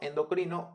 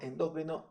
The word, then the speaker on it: endócrino: Academia acepta ambas maneras podemos decir exocrino endocrino o exócrino y endocrino Y la verdad es que yo toda la vida he estado acostumbrado a decir exócrino endócrino así que esa es la manera en que la voy a pronunciar en este video video Pues bien eh